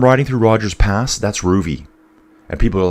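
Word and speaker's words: Rouvy: That where I'm riding through Roger's past, that's Ruby. And people are like, "Groovy? How do you spell it?"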